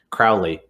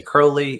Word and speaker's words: Crowley: oh he doesn't say crowley he doesn't he doesn't actually know aleister crowley i say no i pronounce it like david bowie because i discovered him through david bowie yeah and i believe